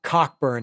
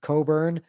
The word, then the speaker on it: Cockburn: okay Burton Cummings Bruce I always called it cockburn I know it's pronounced Coburn um Bruce Coburn no